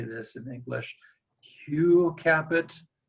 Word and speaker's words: Hugues Capet: Hugh Capet. In French, we say Hugues Capet.